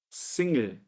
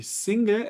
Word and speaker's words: Single: alemão a gente escreve em inglês a palavra, mas a gente pronuncia single, single, como se o E viesse primeiro do que o L, ele single, com assim, com sotaque alemão.